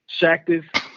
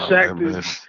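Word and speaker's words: Shaqtus: Did you ever hear about the thing when he went to Phoenix, Shactus? Mm-hmm. Because it rhymes with cactus. Right. When he was Shactus, He Yeah.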